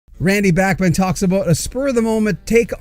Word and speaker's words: Bachman: And of course, most people do say Randy Bachman, but the correct pronunciation, his name is Randy Bachman. Even in the new documentary Bachman, there are people in the documentary, there are